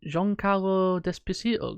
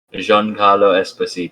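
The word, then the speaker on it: Giancarlo Esposito: waiting is there a child behind him is Jean-Claude despacito gonna be in this season I can't say his name Jean Carlo Esposito Esposito there you go I can't say his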